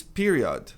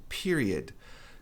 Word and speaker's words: period: Período, outra palavra que a maioria, quase 100% pronunci errado, a maioria diz period. Dá para entender o porquê? Tem um aqui no final, period, mas a pronúncia correta é period.